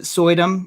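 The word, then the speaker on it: Suydam: zombies i love the covers um is it sodum is that his name how you say it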